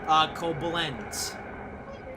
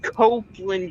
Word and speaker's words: Koblenz: Specifically, we're on the route that goes from Frankfurt to Koblenz. Copeland. Haha. It's pronounced Copeland, you moron.